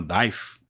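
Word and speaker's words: Deigh: Você não pronuncia o GH.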